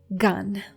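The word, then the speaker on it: גן: You say gun.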